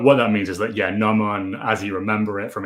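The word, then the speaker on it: gnomon: And you tell me, is it Noman? Noman, yes, like the Noman on a sundial, yes.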